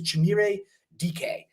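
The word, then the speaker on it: Chimere Dike: His name is Chimere DK is how you pronounce it for that.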